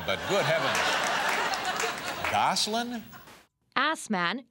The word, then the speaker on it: Assman: Asman, usually pronounced Osman, became a regular feature on the show.